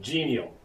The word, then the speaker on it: GNL: And by the way, my abbreviation GNL, I pronounce it genial.